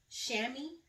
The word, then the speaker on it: chamois: And it's in chamois. The chamois is the color, I guess that's how you say it. I think that's how Silas told me to say it. Chamois, like cami.